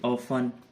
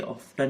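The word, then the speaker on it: often: ऐसे ऑफन, ये ऑफ्टन नहीं होता, ऑफन होता है, इसमें भी टी का कोई साउंड नहीं है ना।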